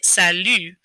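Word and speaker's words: salut: we say this so if you're trying to say salu what you're actually saying is sally like the girl's name emphasis on the second syllable but instead of sally and your lips parting and smiling you're going to pucker up and make an u sound okay so or an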